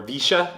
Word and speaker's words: villa: any neighborhood that has a villa via or visha as the locals pronounce it basically v-i-l-l-a and that was my